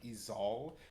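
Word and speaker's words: Ezal: you looked at it it's more of like is all and I'm like that's not how I pronounce it just easel and so I went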